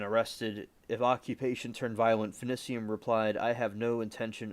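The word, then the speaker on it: Finicum: If occupation turned violent, Finicium replied, I have no intention of spending any of my days in a concrete box.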